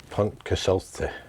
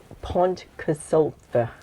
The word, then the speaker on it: Pontcysyllte: Just say Pontcysyllte. Pontcysyllte.